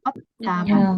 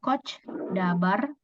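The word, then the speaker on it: 꽃다발: Kot dabar. Jadi bukan coach dabar, tapi kot dabar. Jadi biasanya hati-hati ya Robun ya. Kalau ada ciat, jangan lagi dibaca coach, tapi kot pakai T biasa ya.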